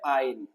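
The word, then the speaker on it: yne: সি এ2 এ মাইনাসট এর উচ্চারণ হয় হচ্ছে আইন অ্যালকাইনের উচ্চারণ কি আইন হয় অ্যালকাইনের উচ্চারণ কি বলতো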